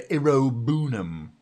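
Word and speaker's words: Iroegbunam: A that's a foul and a yellow card for Iroonum. That's with a silent G.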